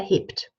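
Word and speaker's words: hebt: is third-person singular here heaped and so it's a consonant cluster at the end of a word heaped so the P the B becomes a P in translation heaped heaped miss Haywood heaped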